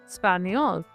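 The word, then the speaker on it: espagnole: ऐड कर देंगे और इसका प्रोनाउंसिएशन क्या होगा स्पेनियोल। इसका भी सेम रहेगा स्पेनियोल, स्पेनियोल, बट इसमें यही एक छोटा सा चेंज रहेगा, लास्ट में फेमिनिन में ई ऐड कर देंगे।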